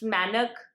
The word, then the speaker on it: Mainak: I did watch a lot of videos correcting my pronunciation, but whenever I try to film the video, I say it Mainak Dhar. It's Manak, and I'm sorry for not pronouncing it correctly.